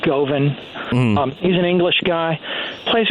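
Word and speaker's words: Govan: guy named Guthrie Goan go V an he probably pronounces it goven he's an English guy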